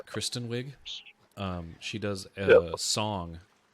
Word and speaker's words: Kristen Wiig: full like song uh Kirsten wig or I think that's how you say her name right Kristen or Kirsten Kirsten Kristen Kristen yeah Kristen Wiig um she does a